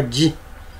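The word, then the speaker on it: 自: Esse na pronúncia on se chama ji, na pronúncia kun, mizukara, né?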